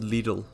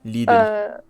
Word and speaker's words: Lidl: Okay, how do you guys pronounce it? I pronounce it Lidl. hmm Everyone here, Lidl.